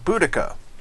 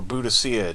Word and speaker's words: Boudica: do one last run as Boudica, or Boudicca, depending on how old you are and who taught you how to say it. But I say Boudica, of the Celts.